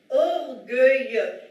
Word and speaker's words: orgueilleux: être orgueilleux، یک کمی تلفظ این کلمه سخت هست، دقت کنید این ای بعد از ژ رو نمیخونیم، فقط برای این اومده که ما این ژ رو با صدای گ تلفظ کنیم.